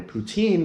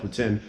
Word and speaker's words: poutine: really like is Putin it was pronouncing it wrong earlier I was calling a poutine but it's actually called Putin and someone try to